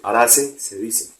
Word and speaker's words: Araceae: Araceae se escribe, Araceae se dice.